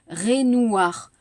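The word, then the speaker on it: Raynouard: La prononciation, la phonétique, Renoir. Comment ça s'écrit?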